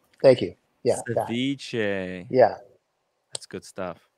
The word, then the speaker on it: ceviche: I'm not pronouncing it right. Ceviche. It's ceviche. Thank you. Yeah. Ceviche.